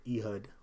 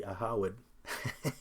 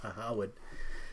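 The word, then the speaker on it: Ehud: and former Prime Minister E-hud, which is really Aawed. That's how you pronounce it. Aawad, right?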